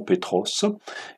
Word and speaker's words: Petros: Le premier s'appelle Simon-Pierre, donc simplement si on le remettait dans les langues originales, on prononcerait simplement Shimon Petros, un nom à consonance juive, araméenne, et un autre à consonance plutôt grecque.